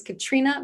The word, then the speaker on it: Katriona: Yep, the O is silent. I figured, I'm just messing up all the names today, so I might as well try yours too. All good. Well, anyway, thank you, Katriona.